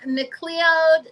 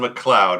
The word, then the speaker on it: McLeod: are you I'm good it's actually McLoud I know it's not an easy one to pronounce but that's okay mle mle it's all right it sometimes it gets messed up that's the problem so